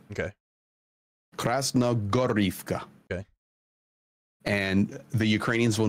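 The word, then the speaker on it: Krasnohorivka: So when you see Krasnogorivka, so whenever you see the H and you're naming these towns, make the H a G sound. Okay. Krasnogorivka.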